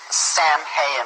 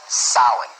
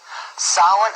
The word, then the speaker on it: Samhain: call it sowing now when you look at the name it looks as if it's saying samhain or something like that no no no this is probably pronounced in the ancient gaelic as sahan sowen according to occult tradition